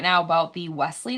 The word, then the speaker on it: Wesley: First of Wesley. all, there is no T in his name. And secondly, just stop saying the T.